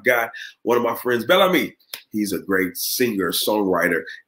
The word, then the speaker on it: Bel Ami: pronounce it right yeah it's pronounced bellamy bellamy it's friendship means beautiful friend beautiful friend you are